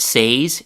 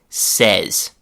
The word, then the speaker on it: says: The vowel sound changes from the a like in say to the e like in get or left. So, we don't say he, she, or it says.